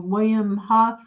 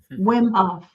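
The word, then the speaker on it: Wim Hof: Um George Barnhill says, uh William Huff the Iceman Wimhof. Wimhof. Yes. Yeah. Yes. Yeah. I got his name wrong.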